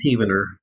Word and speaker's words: Heavener: It's actually pronounced Heavener. I pronounce it Heavener, but it's Heavener Stone, yeah.